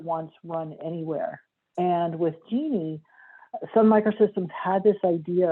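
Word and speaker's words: Jini: i worked on the genie project it's spelled j-i-n-i but pronounced like the woman's name genie and genie was really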